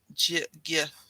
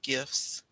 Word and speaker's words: GIF: Yeah, I remember, if you've ever seen the word GIF, it looks like it should be pronounced GIF, right? But it's GIF, like the peanut butter.